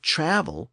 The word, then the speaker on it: travel: English distinguished those two words by shifting the accent forward in travel to reflect a more traditional English pronunciation with the accent on the first syllable.